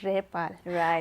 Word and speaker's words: rebel: is a noun and so we have to pronounce it as a repal and when we pronounce it as a rebel then it works as a verb okay so you may